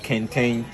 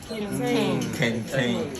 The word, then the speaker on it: Kente: Can we pronounce that Kente? Kente.